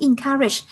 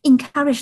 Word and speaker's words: encourage: Encourage là khuyến khích. Đọc là in nha, em không đọc là en nha.